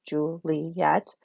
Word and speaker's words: Juliet: and zhu-li at cuz that's what we say her name Juliet three syllables Julie yet but it doesn't work